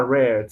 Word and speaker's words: read: verbo read, leer, bien, es read, se escribe read, así tal cual, pero se lo pronuncia red, como si se tratara del color rojo, en segunda columna, bien.